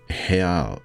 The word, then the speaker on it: real: me 130 real accent I know they use Hal in Brazil and they pronounce starting RS with an H but I'm assuming assuming